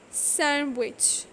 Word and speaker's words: sandwich: silent like for example d is not pronounced in the following common words handkerchief sandwich wednesday we are not going to